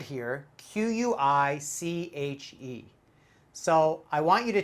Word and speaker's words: quiche: and sound it out quiche totally wrong though this is a french word and we pronounce it quiche quiche strong k in the beginning sh at the end quiche and quiche is